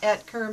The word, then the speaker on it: Oetker: my name is eter o e t k r is our last name it's a German name and the O is silent so it's pronounced etar my name is